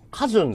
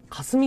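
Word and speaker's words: 架純: カジュンじゃないの？これ。霞って読むんだ、これで。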